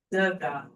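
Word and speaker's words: Dagaz: Daga. It's the accent on the first syllable.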